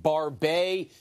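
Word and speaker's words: Barbet: of the new ones this one's pronounced barbae you can see here sort of the wiry rough coat that's the that is the french word barbae for beard so is there a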